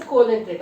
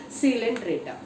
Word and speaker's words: Coelenterata: But we are here we did not pronounce the O. As exactly like before coelom how you read like that. Coelenterata. Okay, don't say it's a Coelenterata.